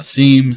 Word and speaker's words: SIEM: I've seen different uh different people say uh seam say sim uh generally uh the pronunciation is Sim uh we dro the long